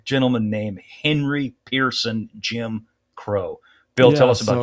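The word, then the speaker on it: Crowe: It was said that the men of 2-8 feared Crow more than the Japanese. I call him Crow because of Admiral Crow. That's how you pronounce his name, former CNO and former Chairman Joint Chiefs of Staff, sorry.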